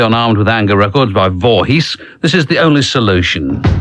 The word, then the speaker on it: Voorhees: on the radio and they do just pronounce it vorhees which is how it's spelled but that's rather disappointing